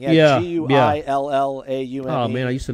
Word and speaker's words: Guillaume: G-U-I-L-L-A-U-M-E. Oh, man, I used to know how to pronounce that.